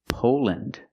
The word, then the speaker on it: Poland: Again, with countries, don't say land, say land. Again, Finland, Poland, Switzerland.